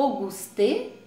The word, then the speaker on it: Auguste: E aqui no quadrinho do lado você vai ter como que você pronuncia. Vamos lá, ó. Auguste Rodin.